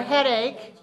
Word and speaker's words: headache: A-C-H is pronounced k sound, ache. Headache. Neckache. Earache. Backache. Stomachache. All right, so sometimes the C-H has a k sound. In this word, k. Okay, not H, but ache.